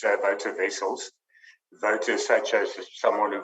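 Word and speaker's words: Wouter Wessels: like that but um like a voter in an election v-o-t-e-r you pronounce my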